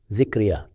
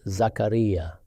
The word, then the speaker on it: Zakariya: Among us, people commonly pronounce the name as Zikriya. This pronunciation is incorrect. In the Quran, it is Zakariya.